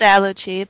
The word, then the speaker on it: Allochii: So, it's Aluchi, but Ally will work.